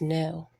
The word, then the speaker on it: know: you should know about the K here is definitely silent because we don't say at all the word is just know I know how to